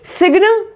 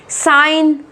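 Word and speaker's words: sign: ऐसे ही सिग्न नहीं, सिग्न नहीं। साइन, साइन। इसमें क्या है? जी यहां पर साइलेंट है ना, साइन बोला है इसमें।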